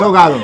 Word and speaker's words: ahogado: No pronuncian la D. Ridículo. Ogado. Eso es mentira. Ridículo. Es ahogado. Lo pronuncio perfectamente bien.